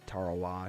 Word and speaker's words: Tarawa: Tarawa should be pronounced correctly on this, so we'll see if that is the correct pronunciation.